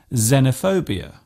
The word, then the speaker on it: xenophobia: letter it often starts a word by being pronounced as Zed such as in xylophone and xenophobia this particular use stems from the language of